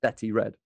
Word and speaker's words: Bethy Red: way but we say betty betty betty i have yeah i have that so it's b e t h y red r e d but it's pronounced betty red yes i have a